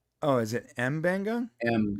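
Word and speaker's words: M'Benga: Mabenga is Mbenga. Oh, is it Mbenga?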